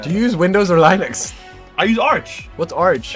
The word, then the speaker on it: Linux: Linux, that's how you say it.